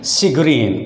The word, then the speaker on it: chagrin: दूसरा word CHAGRIN, शिग्रीन। इसकी phonetic sound क्या होगी, शिग्रीन।